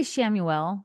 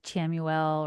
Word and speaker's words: Chamuel: I say Shamuel. Okay. That's how I say it. There might be other versions like Chamuel or Chamuel. But I've always said Shamuel.